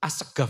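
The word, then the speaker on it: السقاف: As-Segaf itu tulisannya apa? As-Saqaf, pakai qaf, nggih. Tapi diucapkan dari lisan mereka dengan gof. Nggih, gof.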